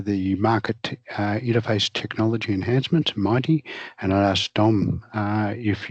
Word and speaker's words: MITE: of three as the Market Interface Technology Enhancements, pronounced MITE projects.